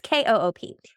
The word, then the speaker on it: Cope: And I think I said her name wrong before too. It's Koop.